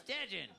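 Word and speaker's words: Dejuan: And he's like, Hey, bitch, you be blacking on my name. Hey, you know what's crazy? Somebody mispronounced my name while I was hitting it, too. Oh, yeah. She said it just the way you said it, nigga. Yeah? What did she yell? Beetlejuice? Yeah. Yeah. She was like, ooh, Dejan. And I was like, You're like, it's Dejan. Yeah. It's Dejan, bitch. It's Dejan. Spell it.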